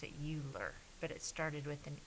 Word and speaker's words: Euler: named it his name was I think you pronounce it Euler but it started with an e so we're